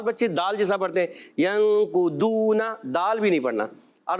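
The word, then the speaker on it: ينقضون: ایسا محسوس ہوگا آپ کو کہ دال تھوڑا موٹا کر کے پڑھا گیا ہے. دال جو ہے موٹا کیا گیا مگر تلفظ دال سے ہٹ کر ہے. دال کا تلفظ کیا ہے؟ زبان کا سرا اور اوپر کے دانتوں کی جڑوں سے دال ادا ہوتا ہے اور ضاد ادا ہوتا ہے زبان کا بغلی کنارہ یعنی زبان کی کروٹ اور اوپر کی داڑوں کی جڑوں سے.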